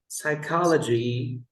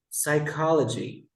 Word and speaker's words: psychology: look at this word psychology psychiatrist sidekick we never pronounce the p the p no we never say psychology now I would say Psychiatry psychology did you understand psychology